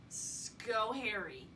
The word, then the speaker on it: Schoharie: Schoharie.